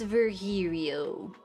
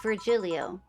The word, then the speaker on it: Virgilio: his voice you look wounded ver virgilio it's pronounced verio no i'm pretty sure it's virgilio he said as much the last time he